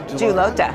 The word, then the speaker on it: Julota: Julota, Yes, say it right?